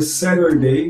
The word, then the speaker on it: Saturday: Você vai ver, por exemplo, Saturday ou Saturn's Day, o dia de Saturno, pronunciado é Saturday, Saturn's Day, porque o N ali acaba sendo mudo, né?